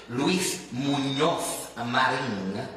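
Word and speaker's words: Luis Muñoz Marín: Horton Elementary School, Luis Munoz Marin Elementary School. You don't have to necessarily say it like that, but you at least need to know it's not an N.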